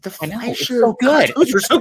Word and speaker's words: Fleischer: Fleischer, yes. Fleischer. See, this is why you're here, Scott, to correct my my bad pronouncing.